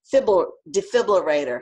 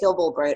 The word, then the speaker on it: defibrillator: if I have a defibrillator, how do you pronounce it? Defibrillator, you know, the thing that starts. Yeah, I know. I always want to say fibrillator.